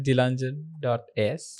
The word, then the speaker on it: Dilanjan: Dilanjan.